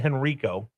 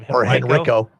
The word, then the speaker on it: Henrico: Yeah, if you say Henrico like Uncle Rico throwing the football over the garden instead of Henrico.